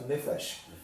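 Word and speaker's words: נפש: de pronúncia, a palavra, geralmente as palavras hebraicas elas são oxítonas, então seria correto nefesh. Mas por questões de fonética, essa palavra recebe a que a gente chama, o acento ele recua.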